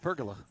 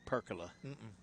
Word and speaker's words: pergola: way now to see pergola that's what i said pergola you said percola i did not pretty sure went with the hard g there so do up here